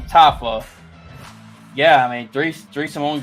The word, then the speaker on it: Tafa: How do you say his last name? Justin Tufa? I forgot to say his name. Tufayo? He's a Samoan guy. Tafa, my bad. I don't know where you get two from.